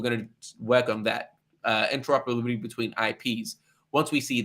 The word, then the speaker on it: interoperability: Here's the correct pronunciation from the audience. Thank you. It's interoperability. Perfect.